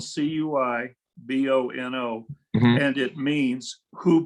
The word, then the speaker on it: cui bono: Ben, do you know the Latin phrase cui bono? I don't know that one yet. What is that one? Okay, it's 2 words. It's spelled CUIBONO, Mhm.